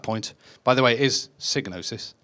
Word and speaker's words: Psygnosis: by the way his signo sis pronounced like hypnosis that's because the guy who invented the word he says it's pronounced that way so therefore we all call it signo sis so I ended up